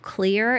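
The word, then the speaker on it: Xlear: There's also a product on the market called Clear. It's spelled X-L-E-A-R. It's containing xylitol, which can lubricate the nasal passages.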